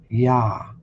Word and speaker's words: Yah: And according to Strong's number 8350, it is pronounced as ya.